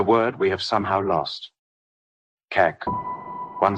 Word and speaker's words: CAK: Kek. One syllable.